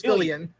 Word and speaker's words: Fillion: And based on the missed opportunity for Sony, Nathan Fillion, I always mispronounce it. It's Fillion.